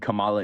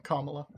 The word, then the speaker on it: Kamala: How do you think Kamala is a patriot? You said it wrong again. Kamala.